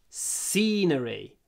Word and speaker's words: scenery: France is beautiful P scenery try to hold the C lots of s lots of Y scenery SE SE scenery